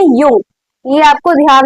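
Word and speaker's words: Jung: आप बोलेंगे यंग तो जंग नाम चाहिए। जंग जंग जंग नहीं बोला जाता इसको। जे हमारा साइलेंट होता है। इसको बोलते हैं यंग।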